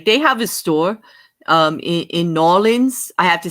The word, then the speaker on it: New Orleans: They have a store in Nolens.